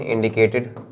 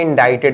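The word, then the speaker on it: indicted: कि सिग्नल या sign इंडिकेटेड बचा क्या भाई बचा क्या इसको इंडिक्टेड नहीं बोलते इंडा इटेड बोलते हैं क्या बोलते हैं इंडा इटेड सी साइलेंट होता है इंडा इटेड जिसका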